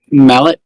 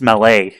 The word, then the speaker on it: Mallet: Mallet type locomotive articulated. I can't give you the point. You said it wrong. Well, these were articulated malletype locomotives. No, it's mele.